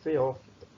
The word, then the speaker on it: Phaeophyta: Esse aqui se pronuncia Phaeophyta.